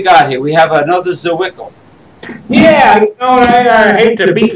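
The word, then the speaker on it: Zwickel: Zawickle, yeah, I'm supposed to pronounce it Zawickle.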